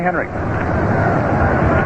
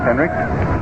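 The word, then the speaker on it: Henrich: And here is Tommy Henrik. The name is pronounced as though the final letter is a K although it's spelled H N R I C H. Henrik was really pounding that ball last year for the Yankees.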